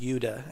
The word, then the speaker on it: Jude: And in September 1941, when my grandfather was 11, the Jews of Germany had to start wearing badges which said Jude, or it's pronounced Jude in German.